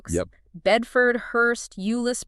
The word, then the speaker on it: Euless: Bedford, Hurst, Euless, pronounce U O Lees, North Richland Hills, Haltom City, and Watauga.